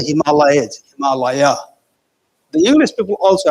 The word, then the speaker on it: Himalaya: Not the Himalayas, Himalaya. The English people also have to pronounce the way the native people pronounce. It's a Himalaya, not the Himalayas.